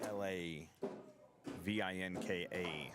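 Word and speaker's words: Hlavinka: His name is Darren Lavinka. His last name is spelled with an H. H L A V I N K A. So, silent H. Telling you how to pronounce his name.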